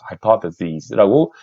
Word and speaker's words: hypotheses: 그러면 복수형은 여기 있는 i를 e로만 바꾸면 됩니다. e로만. 그래서 hypotheses라고 z라고 발음이 됩니다.